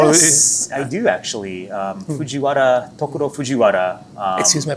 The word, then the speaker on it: Fujiwara: Tokuro Fujiwara. Excuse my pronunciation. No. I just No. I lived in Japan so long. I just pronounce it kind of like as a native. But yeah, Fujiwara-san.